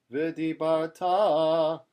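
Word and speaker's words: וְדִבַּרְתָּ: Now, you might have heard this chanted V'dibarta, but the trope is under the tav. So that tells us that the pronunciation, the correct chanting is V'dibarta bam.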